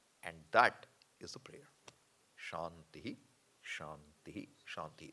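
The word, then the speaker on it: शान्ति: that is a prayer shanti shanty shanti the way we pronounce It shant shant shanti not shantihi shantihi shantihi can be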